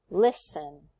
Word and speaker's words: listen: Listen. Listen. It's on the first syllable, right? The lis.